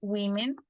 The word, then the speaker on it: women: Woman, women. Ojo en la pronunciación aquí, que a veces nos cuesta un